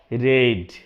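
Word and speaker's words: read: या v3 ये लिखा तो सेम जाता है लेकिन बोला जाता है रेड क्लियर य हो गया कांसेप्ट इसे भी आप v1 ही ना समझे ना v2 समझे दोनों होता है इसी तरह के spelling R ई ए डी लेकिन चाहे v2 के जगह पे आए चाहे v3 के जगह पे आए आप उसे पढ़ेंगे रेड clear are ईडी रेड नहीं आर ई एडी रेड ठीक है ये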